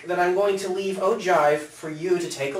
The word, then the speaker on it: ogive: at an ogive that can be interesting enough ogive is how that's pronounced it's interesting it's useful you've got a